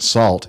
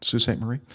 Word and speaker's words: Sault Ste. Marie: You definitely need to look up the pronunciation because it ain't salt.